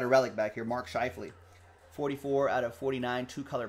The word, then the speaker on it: Scheifele: You should hear me years ago trying to pronounce that name. Really tripped me up when I first saw that. Schifalele? When someone's like, it's Shifley. It's like, no, it's not. There's just way too many L's and E's there.